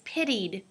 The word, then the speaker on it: pitied: the second word is pitied pitied so it's not a t sound it's a duh sound it's a d sound so we say pitied